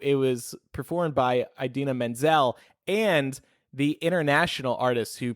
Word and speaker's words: Idina Menzel: Funnily enough, Josh Gad, who voices Olaf, he introed them, and he said, and now Idina Menzel pronounced exactly how it's spelled.